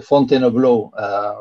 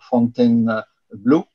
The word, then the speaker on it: Fontainebleau: in French of the Fontainebleau rock. And you can see here, you can go back to that issue. You should not say Fontainebleau, Fontainebleau, but you should say Fontainebleau.